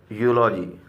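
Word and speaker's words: eulogy: बाद यू आया है, और जब ई के बाद यू आएगा तो इसका प्रोनाउंसिएशन यू होता है। और वो लिखा है यूनक और यूलॉजी।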